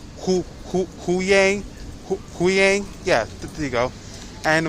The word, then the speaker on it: Hu Yang: Hu Yang, yeah, there you go.